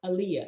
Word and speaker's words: Elea: l y forward slash talk with aaliyah and that's spelled e-l-e-a well i'm so glad